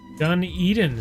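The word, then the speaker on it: Dunedin: Dun Eden is how it's pronounced.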